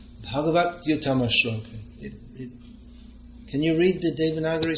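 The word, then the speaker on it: bhagavaty-uttama-śloke: you're chanting Bhagavati Uttama Shloka, but it's to be pronounced Bhagavat Uttama Shloka.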